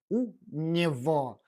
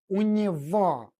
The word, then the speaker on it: у него: We write it with the letter G, but we pronounce it as sound V. Say with me, у него.